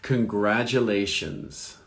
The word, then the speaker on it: congratulations: Congratulations. Congratulations. So the accent is on the second syllable.